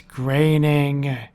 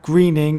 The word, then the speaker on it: Groening: It's Groening. Indeed it is, not greening or groaning.